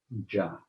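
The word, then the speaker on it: ज्ञ: There are 4, 5, 6 words, all hinged around one syllable, which is ja, which is I don't know if you can see ja, to know. It looks like it's J-N-A, jna.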